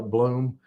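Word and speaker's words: Blum: called balum texas and they call it bloom but it's spelled b-o-u-m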